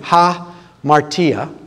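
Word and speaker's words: hamartia: The word sin, ha martia, it's got two syllables.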